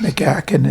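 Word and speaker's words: Mika Häkkinen: Mickey Hakkinen, is that how you say it? Yeah, it is. It's Mickey Hakkinen.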